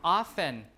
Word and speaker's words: often: Um often, the word often here the T is usually omitted, right?